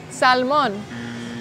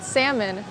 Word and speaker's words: salmon: Notice how I did not pronounce the L in salmon like you do in Spanish (Salmon). You pronounce it salmon, salmon!